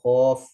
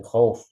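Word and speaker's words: خوف: ju'in wa amanahum min khauf. Itu yang benar kan begitu aja, khauf. Jelas fathahnya, jelas wawnya.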